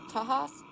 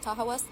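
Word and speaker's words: Tahawus: So they built this village in the Aderondex which is now called Tahas or as locally pronounced Tahawas.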